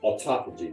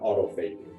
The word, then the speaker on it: autophagy: already talked about is autophagy instead of deeper level it's pronounced autophagy not Auto vaping like that one video